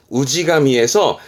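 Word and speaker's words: 氏神: 발음은 우지가미에서 그 씨족의 신을 말하기도 하지만 이 그 고장의 마을 수호신을 우지가미라고 하는데, 요런 부분들은 뜻으로는 잘 안 보이니까 음동만 좀 봐두시죠.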